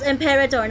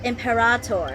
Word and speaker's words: Imperator: empirator allows otherwise I call it imperator the way she pronounces Imperator talking about yes sounds like an old friend of mine It's called Imperidor, not Emperator.